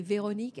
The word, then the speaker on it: Véronique: Although with Véronique, it's hard because we don't have the R in English.